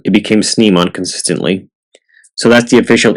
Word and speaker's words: Snimon: Yes, in its first appearance it was pronounced Snaymon because it comes from sniper, but in season 2 it became Snimon consistently.